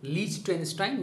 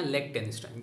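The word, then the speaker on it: Liechtenstein: एक double land locked country है जिसका नाम है लीचटेनस्टाइन या लेक्टेनस्टाइन, जिस तरीके से आप इसको प्रोनाउंस करना चाहें।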